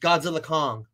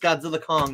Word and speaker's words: Godzilla x Kong: You know, I read that it's called Godzilla X Kong, but it's actually pronounced Godzilla Kong. You don't even pronounce, there's no verses, no X, it's just Godzilla Kong, New Empire.